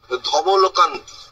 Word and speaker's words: ধবলকান্তি: বাংলায় ধরুন ধবলকান্তি, ধবলকান্তি, ধব ল কান আর তি আলাদা করে উচ্চারণ হয়। ধবল একসাথে বলতে হবে, কান্তি একসাথে বলতে হবে।